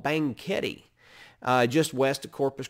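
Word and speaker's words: Banquete: driven there before but bangketi b-a-n-q-u-e-t-e now bang kitty sure sounds a lot like banquet in english and that would be because it is but bangkiti banketi is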